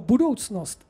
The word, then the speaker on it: budoucnost: Každý z nás, když se vysloví slovíčko budoucnost bez T, To znamená opravdu bez toho t, jenom jako s tím c, tak si představíme nějakou dobu.